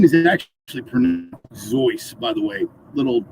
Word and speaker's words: Seuss: seuss uh geisel uh his name is actually zoice by the way a little trivia thing don't know if you guys are aware of um but uh but yeah people have always pronounced it zeus and he finally gave up trying to correct